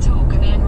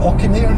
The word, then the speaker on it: Auchinairn: At Auchinan roundabout, take the third exit onto Auchinan Road B812. Listen to the girl who does the voiceover, not pronouncing. to Kirkintilloch and Auchinairn. It's in there, Auchinairn and Kirkintilloch.